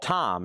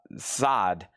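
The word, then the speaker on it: Zeit: Rammstein is pron is called time. It's pronounced uh side.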